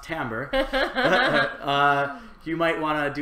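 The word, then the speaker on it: timbre: are music people so we know that t Timber is actually pronounced tamber uh you might want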